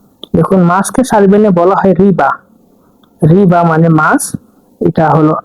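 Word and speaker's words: riba: শব্দে যাচ্ছি মাছ দেখুন মাছকে সারভনে বলা হয় রিবা মানে মানে মাছ এটা হল আর এটা আই এটা বি এটা এ রিবা রিবা মানে মাছ বাক্য প্রয়োগ দেখছি আমি মাছ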